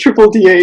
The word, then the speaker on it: DddA: you pronounce that it's it's just triple d a yeah double stranded dna